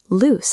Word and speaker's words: loose: Lose has a z sound. It sounds like shoes. Loose has an s sound. It sounds like goose.